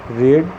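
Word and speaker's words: read: वह पढ़ चुका है, ही हैज रेड, रीड रेड रेड। रीड का स्पेलिंग तीनों एक ही होता है, उच्चारण में थोड़ा सा अंतर होता है।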